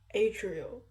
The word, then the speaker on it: Adriel: Adriel. Yeah. It's like Ariel B with a D in between the A and R.